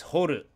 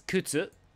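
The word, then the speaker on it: 掘: Number six is horu. Horu is to dig, ironically, to excavate or to delve into. You dig a horu, a hole. You dig a hole. Other way to pronounce this is kutsu. I'm not really going to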